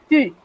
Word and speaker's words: tu: Y además se pronuncia diferente, porque la U en el francés se pronuncia U, por lo cual ese tú del español sería tu.